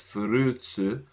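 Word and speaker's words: フルーツ: This is furutsu. And this is rarutsu. So yeah. Furutsu, which is how you say fruits in Japanese.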